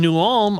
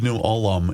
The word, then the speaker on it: New Ulm: I believe New Ulm is 3 syllables.